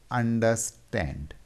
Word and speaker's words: understand: So here we have 3 syllables. First 2 syllables are unstressed and the last syllable is stressed.